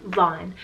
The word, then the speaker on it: Vaughn: boy and it's the name vaughn spelled v-a-u-g-h-n von another option that's very similar to vaughn we